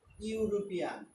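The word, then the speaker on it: European: লক্ষ্য করো, আমি যদি বলি ইউরোপিয়ান, ইউরোপিয়ান, ইউরোপিয়ান অথবা ইউরোপ, এরকম শব্দ, এখানে তিনি একজন ইউরোপিয়ান, তাহলে ই কথাটা থাকা সত্ত্বেও এখানে কিন্তু ইউ এর মতো উচ্চারণ হয়েছে।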